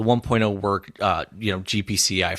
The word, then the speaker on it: GPCI: You guys are you know always pushing for the uh the 1.0 work uh you know GPCI floor or gypsy as you uh I heard it pronounced.